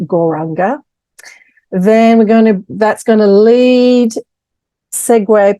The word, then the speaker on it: Gauranga: So the mantra that we're going to use today, Gauranga, it means the golden one, golden light, golden energy, golden personality. So we're breaking it down into 4 syllables: Gaur, Ra, Ang, Ga.